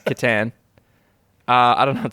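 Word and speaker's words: C'tan: uh so many people aren't sure how it's pronounced i've heard most people call it satan oh yeah but i've heard games workshop managers call it kittan yep so just wanted to give the listeners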